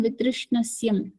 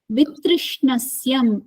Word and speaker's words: वितृष्णस्य: You're making a mistake in Vitrishnasya. It is Vishaya Vitrishnasya. Vitrishnasya. वितृणस्यम्. Vitrishnasya. Trishna. Say Trishna. Trishna.